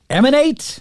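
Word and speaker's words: EMAN8: this week for me I believe his name is emanate I believe is the way that you pronounce it it's e-m-a-n-8 but I stumbled across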